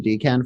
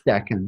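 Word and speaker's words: decan: I just looked it up because I was pronouncing it D Ken for the longest time isn't it it's Deccan is it duck n yeah there's there's an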